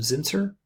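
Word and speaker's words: Zinsser: was reading a book by William Zin sir that's how you pronounce his last name on writing I think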